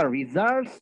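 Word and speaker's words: results: উচ্চারণটা হচ্ছে গিয়ে রি, লিখবেন রে, উচ্চারণ হবে রি, রেজাল্টস, রেজাল্ট পাবো, রেজাল্ট পাবো স্টেটমেন্টে।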